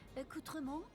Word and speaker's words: accoutrement: And she just said accou- First of all, I would pronounce this accoutrement. Accoutrement. She said accoutrement. She she rolled the R. I I can't do that. No, it's a it's accoutrement, bro.